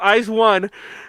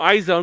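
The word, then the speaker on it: IZ*ONE: just I mean okay I said it wrong I know is pronounced eyes one but I always call them eyes own because I hate the way they spelled it and I'm always gonna call them eyes own until they change the spelling anyway so I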